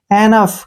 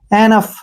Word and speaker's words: enough: ये रूल है, मैंने पहले भी बताया आपको, UGH का उच्चारण फे के रूप में होगा। एनफ, क्या पढ़ेंगे इसको? एनफ, एनफ मीन्स क्या होता है?